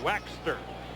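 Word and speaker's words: Waechter: this morning is Henry waxer don't think we're crazy and the way we pronounce it that's the way he wants us to say it waxster just like it was w-a-x-t-e-r how's that for trying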